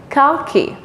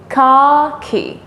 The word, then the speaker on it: khaki: Et en anglais, on dit, in English we say khaki, khaki, khaki. This is khaki color. The pronunciation is different, but the way of writing is the same.